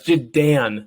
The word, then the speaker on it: Jadan: So, Yeah, it's Jadan. Like my name is Dan. Like it's Jadan. It's not Don. It's not Din. It's Dan.